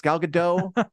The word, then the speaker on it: Gal Gadot: Apparently, they say it's Gal Gadot, according to producer Richard. It is. I believe you. Okay, it's Gal Gadot.